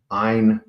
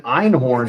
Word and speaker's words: Einkorn: Nathan Einkorn. Oh. There's a fucking K, bro. Oh, I've been calling him Nathan Einhorn his whole life.